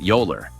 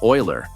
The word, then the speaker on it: Euler: pretty strange, especially since it's actually pronounced Oiler.